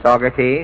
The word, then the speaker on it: Saugerties: Is that pronunciation right? That's right, Mr. Allen. Saugerties? That's correct.